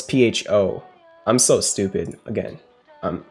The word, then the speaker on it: pho: that's like pha right let me make sure pha that's how you pronounce it let's see i mean that's how you spell it not pronounce it no it's pho i'm so stupid again